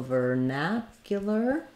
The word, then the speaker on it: vernacular: that for you now so vernacular um uh we have second syllable stress vernacular um I would say probably correct pronunciation you're going to have the ver um and then your neck y vernacular um second syllable stress so this letter A says the a sound ver vernacular um this U is one of our ones that has the gliding y um it's awah and